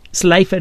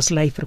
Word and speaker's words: Slipher: Vesto se escribe con V. Slipher es S-L-I-P-H-E-R, Slipher.